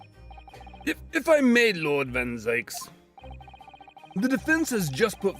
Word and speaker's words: Van Zieks: I know that if it was the proper German pronunciation, it would be Zeke, but uh I I believe it's supposed to um I believe it's supposed to there. They want it to rhyme with uh Yikes. No game audio.